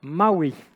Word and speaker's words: MAUI: ses il ya une latence du coup dotnet maui donc voilà ce soir vous vous coucherez monde est on dit marc oui du coup ou est-ce qu'on en est sûre ce botnet maui en et en version stable depuis la fin